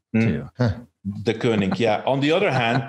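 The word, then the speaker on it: Deceuninck: their sponsorship ah we just learned how to pronounce it right the kooning yeah on the other hand the good news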